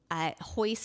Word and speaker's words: Heuss: So Heuss is a traditional German name, rhymes with voice.